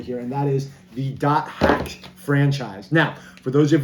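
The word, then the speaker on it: .hack: i own all the dot hack games that came to the west the um the franchise what dot hack is and that is how you say some people just say hack but if you look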